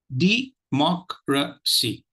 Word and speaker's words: democracy: Let me repeat the syllables, and then you will know which candidate, which syllable will take the accent. Okay, let's see. Democracy. Democracy. If you notice, the C is out of question.